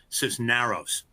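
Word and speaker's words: Cisneros: that she he believes she pronounces her name sis Naros uh so my apologies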